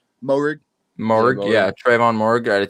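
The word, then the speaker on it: Moehrig: Moherg? Moherg. Morg, yeah, Trayvon Morg out of TCU.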